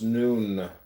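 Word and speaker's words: Nun: deaths comment on none none pronounced noon transcribed as n the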